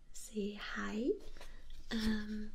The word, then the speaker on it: Hej: compare det You say You say hej in English except more J sound at the end try to Hej Good